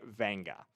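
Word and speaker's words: Vega: But yes, it is it is Vanga Awan. He prefers to go by Venga.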